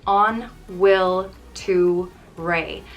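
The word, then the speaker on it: An bhfuil tú réidh: rey it means are you ready and it's pronounced on will to rey i use it every morning trying to get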